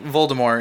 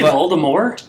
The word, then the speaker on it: Voldemort: Did you say Voldemort? There's a T at the end. No, it's French. There's no T. I mean, there is a T, but it's not pronounced.